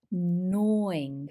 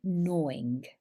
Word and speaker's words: gnawing: or this lovely word here how do we pronounce this gnawing pain so we would pronounce it with gnawing gnawing gnawing pain in the center of the tummy